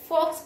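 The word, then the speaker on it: folks: भी कहा जाता है फॉक्स पड़ा जाता है यहां एल साइलेंट है फॉक्स का मतलब पीपल्स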